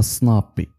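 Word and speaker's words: SNP: اس ام بي هي كلمة بالفرنسي، سون نون باترونيميك، كينطقوها سنابي.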